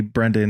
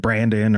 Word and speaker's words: Brendan: or like you know, didn't call me Brendan. They always said Brandon or whatever, you know, bullshit.